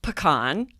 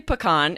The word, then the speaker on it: pecan: So the first one is pecan. I say pecan. It's a nut. How do you say that, Lindsay? I say pecan as well.